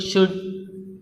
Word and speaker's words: should: And what about L? There are could, should. So, among all these words, L is silent.